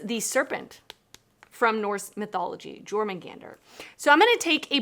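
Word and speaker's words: Jörmungandr: And I looked up how to pronounce this word and I already forgot. So it is Jormungandr. Jormungandr, which is the serpent from Norse mythology, Jormungandr.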